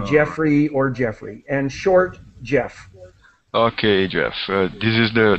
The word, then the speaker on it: Geoff: I'm Canadian and so my parents picked the uh British spelling for Jeffrey but it's exactly the same well I'm I'm I